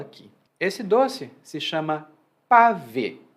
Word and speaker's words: pavê: disso é o seguinte: pavê parece uma forma muito informal de se dizer para ver o o verbo, né, com a preposição.